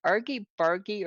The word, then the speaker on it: argy-bargy: in the books and that I never heard pronounced. But is it argy-bargy or argy-bargy that's like a heated argument as The latter.